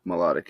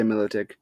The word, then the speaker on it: Milotic: lot of names wrong I think melodic is what's supposed to be I say Milotic anyway not about how